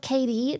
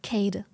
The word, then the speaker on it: Kade: I'm I'm German and usually if a name ends with a e at the end we pronounce it like we we drop off the name it's like a uh sound so Kade not KD just Kade if it was in